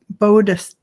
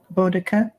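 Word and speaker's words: Boudica: And we just got somebody telling us how to pronounce it's Bodica, Bodica. That's how it's pronounced according to Carolyn Booker. Bodica.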